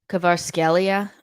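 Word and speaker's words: Kvaratskhelia: bruyne uh ilkai gandawan erling Holland rodri um kovarskelia that's how it's pronounced um mbappe Lionel Messi Victor oseman Declan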